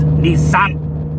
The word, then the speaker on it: Nissan: and by the way in japanese that's pronounced nissan don't say your boy